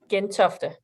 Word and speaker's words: Gentofte: How would you pronounce that one, Charlotte? Gentofte.